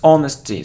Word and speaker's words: honesty: it isn't honesty its honesty so we don't pronounce age here honesty it isn't a